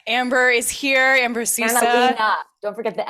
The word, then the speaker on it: Analena: Yeah, Analena. That's what it says. Yeah, that's what I said. You said Analea. You didn't put the N.